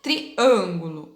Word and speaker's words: triângulo: Triângulo, ó, o an. Triângulo. Ó o som da letrinha A, ó, mais fechada, boquinha mais fechada.